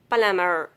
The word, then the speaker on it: plumber: Occasionally, after M, in the middle of a word, then letter B will be silent.